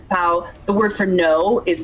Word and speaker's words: pão: So like the word for bread is pão, P-A with and I never remember.